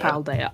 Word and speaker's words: Paldea: Really, it's nothing like Platea. Paldea.